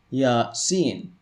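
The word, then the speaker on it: يس: beginning of suratiya sin these are pronounced ya seen now without the diacritical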